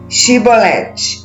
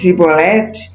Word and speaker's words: Shibolete: Se declarava não, lhe ordenavam: "Então dize Shibolete." Se a pessoa dissesse Sibolete, sem conseguir pronunciar corretamente a palavra, prendiam essa pessoa e a matavam no lugar da passagem do Jordão.